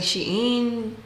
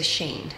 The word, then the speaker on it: Shein: y me dice que no se dice sh in porque es una palabra completa se dice Shane entonces eh Nada pedí